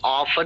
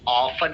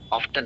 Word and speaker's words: often: ऑफ भी pronounce करते हैं और ऑफन भी प्रोनाउंस करते हैं. दोनों ही तरीके से करेक्ट है. Often. बट मेरी सलाह है कि आप इसको ऑफन ही प्रोनाउंस किया करें. ऑफन, ऑफ्टन नहीं.